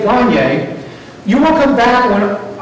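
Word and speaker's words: Gagné: Some people say Gagne, but Gagne is apparently the way you pronounce it.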